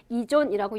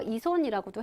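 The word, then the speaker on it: 依存: 이렇게 보시면 돼서 우리가 의존 이건 있을 존자라고 해서 그래서 의존은 뭐라고 하냐면 이존이라고 얘기도 하고요. 발음은 그냥 손 써서 이손이라고도 해요. 여러분 틀린 거 아니에요.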